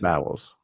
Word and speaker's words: Bowles: It's I think pronounced Bowles. It's pronounced Bowles.